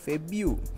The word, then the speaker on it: February: කියන්නේ February February February මෙතන ru නෙවෙයි u febu feb u ඒ කියන්නේ මේ r ශබ්දය අයින් කරලම දානවා febu febu මේ මේ මේ මේ